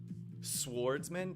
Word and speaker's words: swordsman: the stealthy peninsula swordsman swordsman did i actually just pronounce the w who does who does